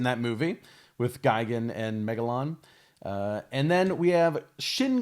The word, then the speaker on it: Megalon: We have Megaron, which is actually Megalon, but they've seen fit to misspell it here on the card.